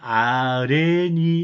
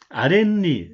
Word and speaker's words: 아랫니: 그러면 요게 니은이 어떻게 발음이 되냐면 아레니 이렇게 하지 않아요. 우리말로. 아랫니 니은 받침이 나죠.